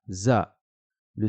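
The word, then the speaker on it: ذ: la prononcera da da la lettre zal va se prononcer un peu de la même manière que la lettre sa juste au-dessus on va sortir le bout de sa langue et le pincer entre les dents et on va dire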